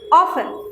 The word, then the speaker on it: often: Number 8, often. Number 8, often. My dear students, look, here T is silent.